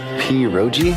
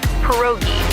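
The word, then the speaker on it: pierogi: Periro. Did I pronounce that right? It's pronounced perogi.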